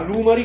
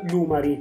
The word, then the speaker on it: Lumary: L'app è proprietaria, quindi scarica l' app Lumari, che si scrive con la Y alla fine.